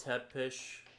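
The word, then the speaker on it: Țepeș: Vlad tep three is his name in Romanian pronounced Vlad tepish the third tepish means impaler.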